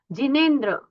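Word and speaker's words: जिनेन्द्र: सैम एस बोलिए अध्यमे सफलन जन्म प्रशस्तम सर्व मंगलम संसार नवोहम जिनेेंद्र तव दर्शना यहां पर जिनेेंद्र में आपका उच्चारण दीर्घ की तरफ नहीं जाना चाहिए। जिेंद्र जी रस्व है जिेंद्र तव दर्शना जिेंद्र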